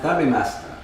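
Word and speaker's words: 食べました: So here we have taberu becomes in the past tense tabemashita, but it's pronounced tabemashita. Okay. Anyway, so the point is, this only happens with high vowels.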